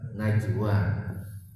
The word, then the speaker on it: Najwa: Najwa pakai J. Kalau pingin agak modern pakai G, Najwa, tapi bacanya tetap Najwa.